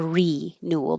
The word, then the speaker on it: renewal: You can say rule or renewal because the re is not stressed. Most prefixes are never stressed. So it can change to r or ri or you can keep it the e sound.